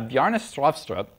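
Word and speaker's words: Bjarne Stroustrup: It's Bjestrost. Um, I've been told that the way to pronounce this is to say strut with a Norwegian accent while cramming a potato down your throat.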